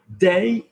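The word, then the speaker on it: des: So do not confuse de and day. If you have, we're going into grammar here rather than pronunciation, but if you have a D going into an open mouth, so lots of friends, beaucoup d'amis, that will just link, that will drop. Day comes from de and les, and that is the pronunciation day, okay?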